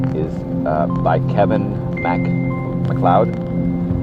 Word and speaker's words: MacLeod: in a moment is uh by Kevin ma McLoud M mlod that's uh a is spelled ma l e o d uh you